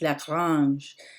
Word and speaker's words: La Grange: And Grange is actually a French name, it's pronounced La Grange, and that means the farm.